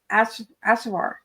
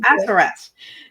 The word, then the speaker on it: Assaraf: What an energizing, and insightful tea time this has been with Kate at Assaraf. Am I saying it right? No, Assaraf.